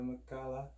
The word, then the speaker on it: Makala: is my first ever ukulele I got a makalah ukulele it that's how you pronounce it welcome not butchering the name like